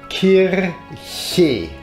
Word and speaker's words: Kirche: The CH here in the second version could be pronounced like the word Kirche, church.